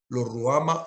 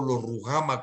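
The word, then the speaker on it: Lo-Ruhamah: Lo Ruama o Lo Rujama, como también se puede pronunciar.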